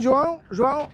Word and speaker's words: João: João.